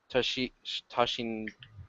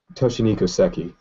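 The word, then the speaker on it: Toshihiko Seki: Toshi Toshin. I can't pronounce his name right. let me help you out. Let me find them. Um, Toshiniko Seki.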